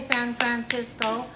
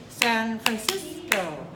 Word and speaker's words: San Francisco: Because I don't say San Francisco, I say San Francisco.